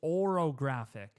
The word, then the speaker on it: orographic: It's orographic. It's o r o g r h See, I can't I have to write it down to spell it. But it's orographic. It's not an a, it's an o.